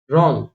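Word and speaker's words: wrong: डब्ल्यू का देखिए, डब्ल्यू के बाद अगर आर आ जाता है और डब्ल्यू स्टार्टिंग में आ रहा है तो यहाँ पर भी डब्ल्यू को प्रोनाउंस नहीं करेंगे। जैसे कि रॉन्ग, rest, right, wrinkle, rap,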